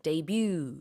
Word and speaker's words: debut: 우리는 데뷔라고 하는데 영어식으로는 debut 이렇게 발음을 합니다.